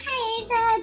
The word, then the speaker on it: Kaisha: I'm Kaisha. Don't overthink the pronunciation. It's Kai and then Asia.